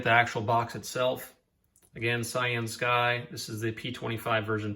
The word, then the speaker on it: CyanSky: I was saying CYANSKY, but it is pronounced CYANSKY after I contacted the vendor just to make sure I was pronouncing it correctly.